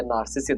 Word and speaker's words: Narcissus: Narcus. Yeah, Narcissus. This is the way they pronounce this name which was given like this